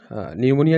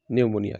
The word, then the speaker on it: pneumonia: এখানে দেখো নিউমোনিয়া যে স্পেলিংটা হচ্ছে PNEUMONIA, নিউমোনিয়া, কিন্তু এখানে পিটা হচ্ছে সাইলেন্ট লেটার, সাইলেন্ট হিসাব কাতায় পিটা উচ্চারণ আমরা করব না।